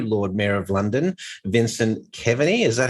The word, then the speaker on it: Keaveny: It is the new Lord Mayor of London, Vincent Keaveny. Is that how I say it, Vincent? Keaveny is how it's pronounced in the States, yeah.